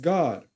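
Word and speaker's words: Gad: that number now that troop here is God g a d pronounced God who is Fortune the god of Fortune so our people will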